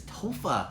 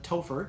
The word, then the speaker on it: Topher: that's a good question tofa or as i spell it Topher tea OPH ER because tea OPA gr+ Topher equals Christopher which is my full name taupe rea is is